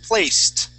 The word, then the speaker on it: placed: uh this next word we end with a t sound as well the word is placed placed okay give me